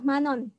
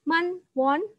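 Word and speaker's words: 만원: 10.000 on bahasa Koreanya ini dibaca Manon tulisannya Man work manual tetapi bacanya dah Manon Jadi digabung nyambung gitu ya membacanya bukan Man Won tetapi Manon seperti itu itu adalah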